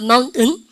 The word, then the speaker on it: mountain: 대박인데 mountain 그러니까 이러면 안 된다고 은을 힘을 줘야 돼. 아시죠? 바로 그러니까 mountain.